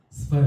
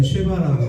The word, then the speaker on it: 스바: 아, 발음 조심해야 됩니다. 스바 여왕. 어떤 데는 쉐바라고 돼 있고요. 어떤 데는 시바 시바라고도 돼 있습니다.